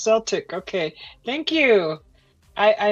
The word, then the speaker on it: Celtic: That's how it's pronounced. Celtic.